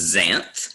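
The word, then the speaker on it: xanth: it this is pron the x is pronounced as a z so it's Zan and that means yellow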